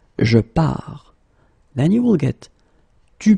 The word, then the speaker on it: pars: Remember, you put this S, you don't pronounce it. Je pars.